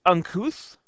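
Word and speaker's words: uncouth: So it's it tells you how to say it uncuth.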